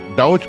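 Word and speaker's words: Daugh: डी ए यू जी एच और मैं बस डाउऊच करके उच्चारण करता हूं।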